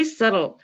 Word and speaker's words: subtle: 자, 그것은요, beautiful, 아름다웠고, historical, 역사적이었고, artistically subtle, 여기 B는 묵음입니다.